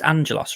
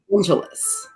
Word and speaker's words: Angelus: Do you think even when he is Angelos, I call it's Angelos, right? Oh, Angelus. I've always said Angelus, which I also heard was wrong. So apparently I don't say it right. But that's how I say it. I think it's supposed to be Angelus.